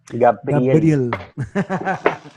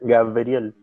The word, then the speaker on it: Gabriel: Gabriel. Sí, acá todos me dicen Gabriel, así, con la B corta.